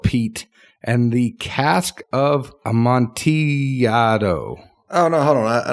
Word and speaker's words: Amontillado: and the Cask of Amontillado. Oh, no, hold on. I know. Amontillado. Amontillado. No, because 2 L's makes a Y. It's Spanish. Well, this is English. I know, but it would be Amontillado.